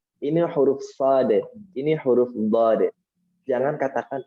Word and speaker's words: ص: Huruf sad. Begitu. Makhrajnya, pengucapannya tadi kan kita singgung di awal, huruf sad itu satu makhraj dengan huruf sin dan juga satu kondisi. Hanya beda cara pelafalan.